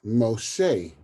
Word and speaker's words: Moshe: But Moses actually, in the Hebrew, is Moshe. So Moshe is how, like Moshe is how you would pronounce Moses in Ivrit, in Hebrew.